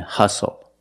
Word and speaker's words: hustle: We also see the silent T when you have a spelling pattern S-T-L-E. Like these words, whistle, castle, and hustle.